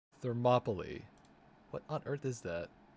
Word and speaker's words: Thermopylae: Thermopylae. Thermopylae.